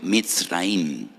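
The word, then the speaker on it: מצרים: Y recuerdan la aflicción, la amargura de la esclavitud, porque la palabra Egipto en hebreo se pronuncia mitraim.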